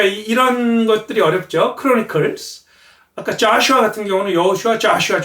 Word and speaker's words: Joshua: 그리고 여호수아는 Joshua. 영어에서는 O에 액센트가 오면 아 발음이 나는 경향이 있었어요.